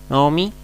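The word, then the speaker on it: נעמי: Naomi, que se traduce como Noemí. Si se dan cuenta, es una compuesta o reducida. Noemí, casi no se pronuncia la O aquí en este signo, en la Hatakamets.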